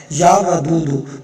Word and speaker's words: یا ودود: اس کی درست ہو۔ کچھ پڑھتے ہیں یا ودودو نہیں ہے، یا ودودو، واو کے اوپر زبر ہے، یا ودودو۔ میں آپ کو سکرین